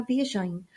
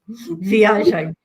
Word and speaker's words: viagem: Vamos fazer verde na próxima viagem, com aipo, espinafres, manjericão e salsa.